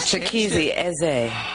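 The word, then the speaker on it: Chikezie Eze: I'm on tour with Phil Stacy, Gina Glockson, Chikizi, Eze. Gotta say it right. Is it really Don't you say easy. Don't say easy. He gets mad? Chikizi Eze. Chikizi Eze.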